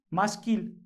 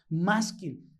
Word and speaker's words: Maskil: Maskil es la palabra hebrea tal cual así se escribe y así se dice. Es una transliteración de esta palabra Maskil.